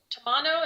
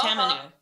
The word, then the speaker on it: tamanu: I got some cranberry oil, some tomato or tamano. Is that how you say it? We call it floral. Tamanu.